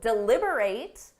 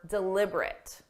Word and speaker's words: deliberate: They need to deliberate on whether her actions were deliberate. The verb deliberate is when you think or talk about something seriously or carefully. The adjective deliberate means intentionally or on purpose.